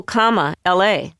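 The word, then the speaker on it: Kamala: A simple comma la was popular, a playful instruction on how to pronounce my first name.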